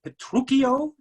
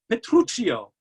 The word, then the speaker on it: Petruchio: pronounce the protagonist's name is it petruchio or is it petruccio i've seen it and advised both ways and all i can say is potato potato tomato tomato let's call the whole thing off you pronounce it like the way you want to i'm going to say petruchio that's just the way i'm used to it yes it is because